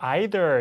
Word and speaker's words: either: 그래서 발음이 뭐 아주 어렵지 않습니다만 실제 이제 그 캐나다나 미국 사람들도 either, neither 이렇게 발음하는 친구들도 전혀 없는 건 아닌데 크게 영국과 미국 차이로 나올 수 있으니까 잘 기억을 해두시면 되겠습니다.